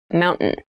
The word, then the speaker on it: mountain: you pronounce this word in fast speech it sounds like mountain the t sound is reduced the little town was